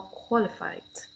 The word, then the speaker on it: qualified: Okay, or qualified. Yes, adjective. We have a stress in different position. For now, before shin, k, and adjective it could be the first syllable, qualified.